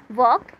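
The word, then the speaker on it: walk: Silent word को आपने underline करना है, जैसे डब्ल्यू एल के, वॉक, वॉक में हम एल साइलेंट कर देंगे, एल का साउंड नहीं आता है।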